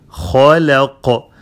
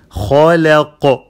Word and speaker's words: خلق: When you stop, خلق. Make the خاء heavy and then لام is light. خلا and then قاف is heavy. خلق.